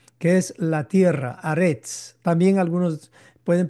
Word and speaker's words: Haaretz: cuarta palabra, con la quinta palabra, que es Haaretz, que es la tierra, Aretz. También algunos pueden pronunciarlo como Eretz.